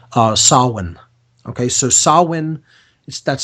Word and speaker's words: Samhain: It's called Samhain. Okay, so Samhain, that's spelled Samhain, or Halloween or All Hallows Eve is October 31st.